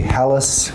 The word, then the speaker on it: Halasz: So hi all my name is Halace. We say like palace but that is not how my Hungarian grandfather would pronounce it.